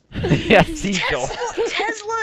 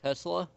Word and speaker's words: Tesla: Tesla. Tesla. Not Tesla. No, it's a S, not a Z.